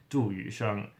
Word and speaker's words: Yusheng: So his name in Chinese, you move the last name to the front, and then in Chinese it's pronounced Yusheng.